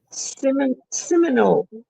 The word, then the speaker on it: Seminole: Seminole. Is that how they say it? Oh, yeah. Yeah, like the Florida State Seminoles.